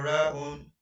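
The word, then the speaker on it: راء: And the next one is ra'un. Ra'un. The short form of pronunciation of it is ra.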